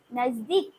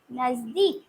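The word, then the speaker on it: नज़दीक: নিকটে নিকটে হিন্দিতে হবে নাজদিক নিকটে হিন্দিতে হবে নাজদিক দন্তন্য বর্গের জয় দীর্ঘ ক নাজদিক কুড়ি কুড়ি হচ্ছে ফুলের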